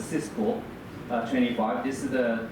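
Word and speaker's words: CISPR: types of the certification like CSPR it's called sometimes we call We pronounce this as a Cisco uh 25.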